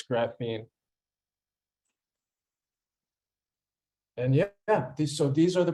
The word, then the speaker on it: graphene: And And can you tell us how to pronounce the word graphene? Can you spell that out for us? yes, it's graphene, graphene. It comes from graphite.